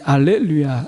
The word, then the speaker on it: 할렐루야: 헬라어로 음역한 것이 할렐루야입니다 발음에 따라서는 알렐루야 이렇게 해도 우리가 불려지죠 할렐루야 할렐루야 이것이 이제 히브리어에서 이제 헬라어로 넘어오면서 이제 h부금인 경우에는 알렐루야로 h를 붙인 경우에는 그것을 소리내는 경우는 할렐루야로 우리가 부르지요 여러분 주를 찬양하라 이렇게 이제